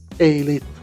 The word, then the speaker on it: 31337: El CDC fue el primer grupo en acuñar el término "31337", pronunciado "Elit", del inglés "Elite", una palabra que ahora ha entrado en la jerga global de los entusiastas de la tecnología.